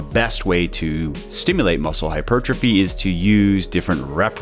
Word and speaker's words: hypertrophy: it's a confusing word many people don't even know how to say it hypertrophy is the right way